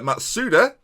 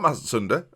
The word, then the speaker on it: Matsuda: really really is uh matsuda not mazatunda uh matsuda there's a there's a silent end that sometimes i pronounce and i can only